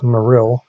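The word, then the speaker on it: Marill: and I pronounce this Pokemon as maril as in like marine and aeril aeril I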